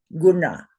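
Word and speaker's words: guṇa: So it's a cerebral n. So you're going to put your tongue on the top of the roof of your mouth, straight up into your brain and say guna.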